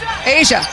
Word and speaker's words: A'ja: pronounced Asian you go K listen to this Asia outside I like my pronunciation better what this is the most unbelievable